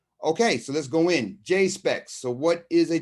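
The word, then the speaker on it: JSPEX: the top it says j s p e x which i pronounce j specs and it means japanese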